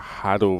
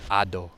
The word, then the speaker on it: Hado: So we got Hado versus Seawolf. Well, he's French, so it's actually Ado, isn't it? It's Ado. They don't pronounce the H's.